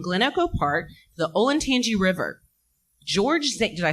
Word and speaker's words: Olentangy: The gates themselves are comprised of a drainage culvert carrying a stream from Glen Echo Park to the Olentangy River.